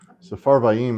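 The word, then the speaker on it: Sepharvaim: Safarvaim always gets me. Um, it looks like there should be an additional syllable there, but that last def thong should be just one vowel.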